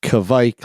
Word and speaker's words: Kavik: And the guy's like, no, it's pronounced Kavik. That's why it's Kavik like Mike.